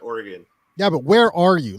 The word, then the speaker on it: Oregon: the middle of oregon but we pronounce it oregon yeah but where are